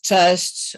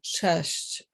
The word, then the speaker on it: cześć: I think Pan Franek had a problem with the word cześć. Cześć. You have to pronounce all the S with the little kreska and the C with the kreska.